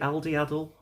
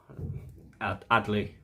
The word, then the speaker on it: Adli: Al, is it Aldi? Adley is the correct pronunciation.